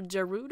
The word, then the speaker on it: Gerudo: master husky oh okay there's some controversy as to whether it's Gerudo or Giroud oh I think Gerudo sounds really natural to me but I think that Gerudo is technically the correct way to say it so I guess I